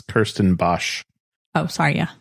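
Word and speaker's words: Kirstenbosch: they had and then the Christian Bach botanical gardens I said it wrong ago chrisan Bach botanical gardens which is phenomenal if you don't like so the people that are trying to find this is Kirsten Bosch oh sorry yeah B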